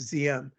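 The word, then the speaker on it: Diệm: you know president ziam spelled d-i-e-m pronounced zm president zim was the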